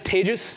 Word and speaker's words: Tejas: mentioned my name is tages that's pronounced like every syllable after the first in the word contagious just a little mnemonic for